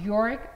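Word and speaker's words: Jörg: pronounce your name right yor yes because it starts with G so I thought it's G but g is silent so y welcome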